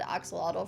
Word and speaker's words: axolotl: I think it's the Aztec pronunciation that has because they're the ones that have we borrowed axolotl from, and it's supposed to be pronounced axolot, I think.